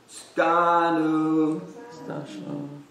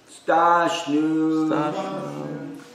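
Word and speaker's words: स्थास्नु: Stanu. Or actually, Stashnu.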